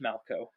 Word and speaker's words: Malchow: I'm Malco. That's MALCHOW. All the extra letters are there to confuse you because it's pronounced Malco.